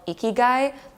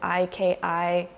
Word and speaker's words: Ikigai: There is actually a Japanese philosophy called Ikigai, and how you spell that is Ikigai, Ikigai.